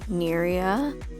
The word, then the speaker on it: Neria: Her name is Neria. That is how that is pronounced.